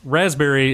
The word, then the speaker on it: raspberry: be great and two raspberry is really an elitist word the way that you spell it there should be no p in there agreed it should just